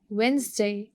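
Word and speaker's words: Wednesday: वेंसडे we don't pronounce D इन इट.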